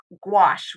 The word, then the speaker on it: gouache: And we're going to switch to gouache rhymes with squash.